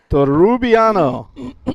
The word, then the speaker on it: Torrubiano: Daniel Torrubiano. I'm going to struggle with the pronunciation on that one. I'll have to get it down as we progress. Torrubiano. 4 syllables. 5 syllables, actually.